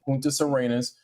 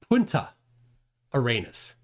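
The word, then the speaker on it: Punta Arenas: up how to pronounce Punta Arenus? There's no S on the end of it. It's not about not knowing how to pronounce Spanish words. He's adding an S where there isn't an S.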